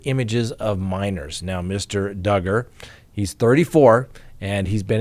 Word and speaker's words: Duggar: next we have the josh duggar case rhymes with hugger that's how we all remember that it's not josh dugar that's right well guess